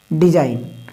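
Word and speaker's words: design: डिजाइन क्या है डिजाइन डिजाइन तो ये जी जो है ना साइलेंट है क्यों क्योंकि ए से पहले डिजाइन डिजाइन मतलब बनावट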